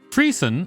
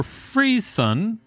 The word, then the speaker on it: frisson: It's Frisson, or Frisson. There's a bunch of pronunciations for it.